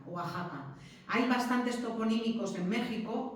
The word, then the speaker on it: Oaxaca: se tiene que decir Oaxaca. Oaxaca, no Oaxaca, Oaxaca. Hay bastantes toponímicos en México que la llevan. Esta X, pero que se tiene que pronunciar J.